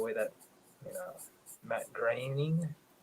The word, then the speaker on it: Groening: The way that, you know, Matt Groening, Raining. Yeah, you got it right. It's weird. His name rhymes with raining, so that's how you remember.